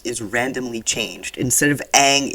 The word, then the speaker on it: Aang: But like, the pronunciation of the main characters' names is randomly changed. Instead of Aang, it's Ang.